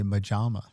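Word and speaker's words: મજામાં: So, yeah, I had If an Indian asks you what's up, you say majama. Majama? Like rhymes with pajama.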